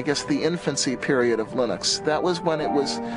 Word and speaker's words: Linux: lonus and I really don't care how people pronounce my name but Linux is always Linux he developed a kernel and